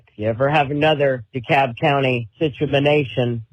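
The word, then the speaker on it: DeKalb: But if you ever have another Dicab County situation, you can not have to try so hard to pronounce that L cuz it's it's a silent L.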